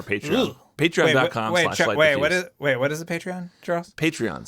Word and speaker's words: Patreon: What is a Patreon, Charles? Patreon. So it's spelled Patreon. It's not like pay tree, like a tree. Okay. With bark. It's Patreon.